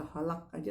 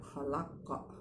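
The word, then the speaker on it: خَلَقَ: Jadi kalau kita tak lihat ada huruf terakhirnya qaf, maka itu bacanya khalaqa ya, khalaqa min syarri ma khalaqa ya, nggak boleh khalaq. Kalau khalaq itu jatuhnya bukan qaf tapi kaf.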